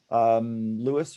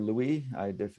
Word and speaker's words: Louis: This is going to be Jan, Karen, Louis or Louis, depending on whether you're actually going with the French pronunciation, and Dylan.